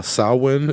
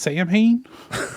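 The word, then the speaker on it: Samhain: that uh the wiccan New Year of uh sawin is considered a precursor to the modern Halloween uh Dr Lumis told me it's pronounced Sam H well uh today it coincides with Halloween on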